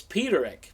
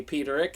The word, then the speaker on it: Peterik: and this goes way back I thought you pronounced it but Eric but it's Peterik because I heard Jim say Peterik and so now I know now you know